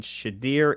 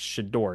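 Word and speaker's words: Shedeur: I'm sorry about that I think I keep saying shadir it's shador isn't it shador Sanders yeahor Sanders now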